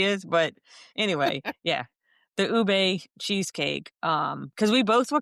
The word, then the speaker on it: ube: And Stephanie got the ubi cheesecake. You sure about that's how you pronounce it? Ube cheesecake.